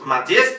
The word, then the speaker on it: Modest: Modest no es Modest, sino Modest. Es importante señalar claramente dónde está la sílaba tónica.